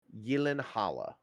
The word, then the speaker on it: Gyllenhaal: Yeah, even Jake Gyllenhaal. That's another one people mispronounce. Oh, really? He's Swedish. It's it's either Swedish or Danish. It's Gyllenhaal.